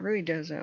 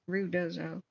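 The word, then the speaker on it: Ruidoso: at um um rudoo I was saying it wrong it's not Ru dozo it's rud dozo so did the stream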